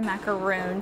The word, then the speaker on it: macaroon: So the real French way to say it would be macaron for these, and then the coconut domes, the American version, that would be the macaroon, spelled with 2 O's.